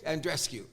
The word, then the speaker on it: Andreescu: Andreescu.